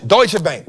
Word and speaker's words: Deutsche: Deutsche, Deutsche Bank, that's how you say it.